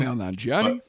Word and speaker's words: Kumail Nanjiani: You get the addition by I can't pronounce this guy's name. Kumail Nanjiani.